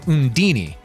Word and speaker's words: Undine: I've heard Undine pronounced multiple ways. I say Undine, but some people pronounce Undine's name Undini.